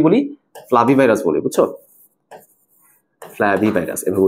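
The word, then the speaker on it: Flavivirus: গুলোকে আমরা কি বলি ফ্লাভি ভাইরাস বলি বুঝছো ফ্লাভি ভাইরাস এভাবে উচ্চারণ করা উচিত।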